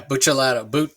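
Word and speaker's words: Buccellato: Yeah, Buchalato.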